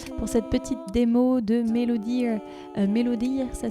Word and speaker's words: MelodEar: Voilà donc les 3 petites applications pour cette petite démo de Melodear. Melodear, ça s'écrit M-E-L-O-D-E-A-R, la mélodie de l'oreille.